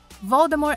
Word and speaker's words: Voldemort: Talvez Voldemort igualou tudo? Número 9. O T é silencioso. Franquia Harry Potter. Voldemort é um nome que muitos bruxos têm medo de dizer.